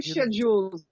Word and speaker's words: schedule: It does not deal in time schedules. Excellent pronunciation of the British schedule.